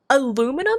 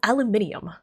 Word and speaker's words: aluminum: Aluminum is the one word. It's like one of the very few words where I think the American pronunciation is more correct. Because Brits pronounce it as aluminium. Where does the extra I come from?